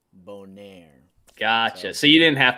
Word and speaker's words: Bonner: Yeah, well, that's the spelling that I use, but I pronounce it Bonaire. It's got a little French flair, and then when people sometimes will say, people say Bonner more than they say Boner, which is surprising.